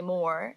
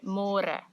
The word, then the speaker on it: môre: It's a little bit easier, but you have to remember to read môre because in English it's spelled like more. So don't say more, say môre. And the older generations of Afrikaans people, they might say it a little bit differently and they sometimes say môre, but it's more commonly used as môre.